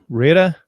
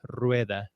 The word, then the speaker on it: Rueda: variations, but I think the worst and most commonly one is probably Rueda. Rueda. Rueda. They kind of break it down into 2 syllables, so it's kind of funny, but Gotcha.